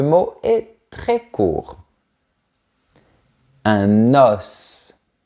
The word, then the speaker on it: os: Un os. On fait bien la liaison, on ouvre bien la bouche et on prononce la lettre S. Un os.